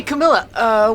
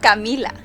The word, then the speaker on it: Camila: Hey, Camila, wait up. Actually, it's pronounced Camila.